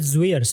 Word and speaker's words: Zwiers: I pronounce it Zwiers.